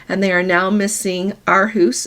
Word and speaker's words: Aarhus: They were going to go there first due to weather, and they are now missing Aarhus. It's Aarhus there.